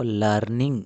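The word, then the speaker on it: learning: Pronunciation में इसको लर्निंग बोलेंगे तो थोड़ा अटपटा अजीब लगता है। यहां पर जो आर होता है वह साइलेंट होता है। तो इसको हम पढ़ते हैं लर्निंग।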